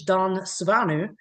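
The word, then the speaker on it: Dan Swanö: that Dan or or as it's pronounced in Swedish, Don Suanu, uh actually got to have a hand in.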